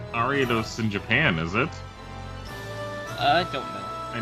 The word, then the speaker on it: Ariados: Ruby, I believe that we put different emphasis on different syllables of that spider. I think I just mispronounced it. It's Ariados. No, not necessarily. I think it can be both, but it's like if you're going more traditional-ish, you would space things out differently than the way we pronounce it typically.